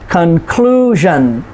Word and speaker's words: conclusion: shun s-i-o-n conclusion television okay so notice where the emphasis is conclusion next to the last syllable television so we say